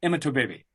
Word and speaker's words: Imatorbhebhe: And yes, his last name looks crazy, but that is the pronunciation, Imatorbhebhe.